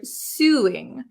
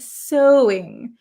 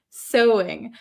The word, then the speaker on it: sewing: she pronounces this word suing but that is not how we pronounce it in English right Sue actually this is pronounced so so so it's very uh very strange spelling right sewing sewing I have a knack